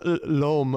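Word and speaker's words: L'Homme: I think it's pronounced Lom or something like that.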